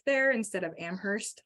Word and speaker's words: Amherst: You say the H in New York. You do not say the H in Massachusetts.